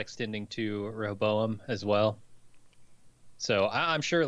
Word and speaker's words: Rehoboam: I think I'm saying that by just skipping the second syllable now. This is Rehoboam. Yep. Roboam.